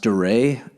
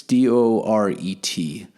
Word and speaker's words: Doret: the artist was Michael I'm not sure if it's pronounced Doray. It's d o r e t. So, it's either Michael Doray, phonetically it would be Michael Doret, but I'm going to assume it's Michael Doray.